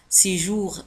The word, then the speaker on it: séjour: لاحظوا على أن séjour تنتهي ب R وتنطق séjour.